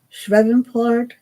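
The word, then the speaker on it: Shreveport: of my event Don Ashley gotcha I'm sh shreport shreport Port see that's the name of it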